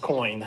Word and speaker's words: Coyne: Yes, Daniel it's pronounced coin, thank you.